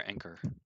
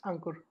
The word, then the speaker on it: Ankur: Is it Ankur or Anchor? I don't know how to say it. It's Ankur. Ankur.